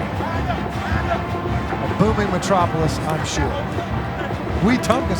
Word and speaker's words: Wetumpka: Wetumpka is how you pronounce it correctly. That is, yes. Right. Very important. Not Wetumpka.